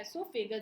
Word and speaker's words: एसोफेगस: ओ इसमें जो होता है वो साइलेंट होता है, इसलिए इसका प्रोनाउंसिएशन ई से होता है एसोफेगस।